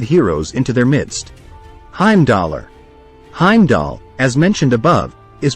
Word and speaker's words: Heimdall: welcoming the dead heroes into their midst heimdollar Heimdall as mentioned above is pronounced as Heimdall and is spelled as heimdollar going by Norse